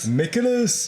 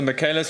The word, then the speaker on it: Michaelis: Michaelis. I always call it the Michaelis. For me, I still prefer that, but it is pronounced Michaelis according to the anime.